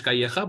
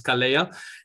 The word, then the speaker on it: Calleja: So it's not with the Spanish Calleja, but it's Calleja.